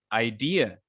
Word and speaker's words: idea: Because idea is basically, if you pronounce it correctly or properly, it will sound something like idea. So you stress dear, idea.